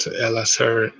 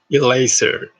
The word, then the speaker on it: laser: wrong uh it's a it's not lsr it's correct pronunciation is a laser and like this so